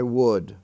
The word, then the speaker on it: would: has maintained their spelling w o u l d is pronounced the same as wood like the wood of a tree wood and wood but there are